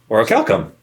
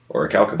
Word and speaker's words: Orichalcum: There's no E after that C, so it makes this CUM. Orichalcum. Orichalcum.